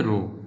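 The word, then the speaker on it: ρ: 2 নম্বর সূত্র দেখো প্রিয় শিক্ষার্থীরা, এখানে আছে এটাকে বলে রো, কেমন? এই যে চিহ্নটা, এই যে প্রত্যেকটা এটা করে রো বলেছে, হ্যাঁ, উচ্চারণটা কীরকম আমি এদিকে রেখে দিচ্ছি, এরকম করে দিবা।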